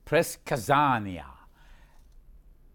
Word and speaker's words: предсказание: And now back to the guest, Press Kazania. A good pronunciation of предсказание, prediction.